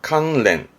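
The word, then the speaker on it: 関連: 관련된 발음은 칸렌.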